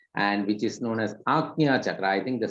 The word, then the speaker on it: Ajna: It is actually Ajna chakra. That is why in Sanskrit and Hindi, when you write letters, it becomes easy for getting the clear pronunciation. Many a times in English it becomes difficult, but we have to read it here as Ajna chakra.